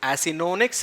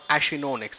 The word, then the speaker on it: Acinonyx: Now, please remember, the H can be included or removed. It can be Acinonyx or Achinonyx. It depends how you pronounce it.